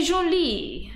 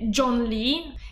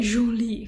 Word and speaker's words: Zhongli: E lo pronuncerò molto male, perché una volta lo pronunciamo direttamente John Lee, che era un miscuglio tra Bruce Lee e Jon Snow, ma a quanto pare è Zhongli, credo, non lo so, non so il cinese ragazzi.